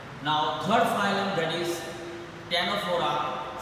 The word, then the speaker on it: Ctenophora: Now third phylum, that is Ctenophora. C is silent, we cannot say as Ctenophora.